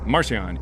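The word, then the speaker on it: Marcion: How do you How do you spell that? Marian. Marcian.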